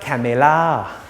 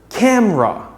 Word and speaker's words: camera: makes me look good it's not kamela although this word has three syllables try try pronouncing it as two syllables camera after i finish this